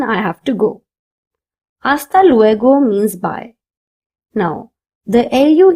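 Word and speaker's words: luego: Go is pronounced as go just like we do in English.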